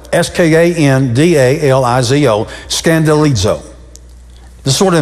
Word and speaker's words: skandalizo: It's spelled S-K-A-N-D-A-L-I-Z-O, skandalizo.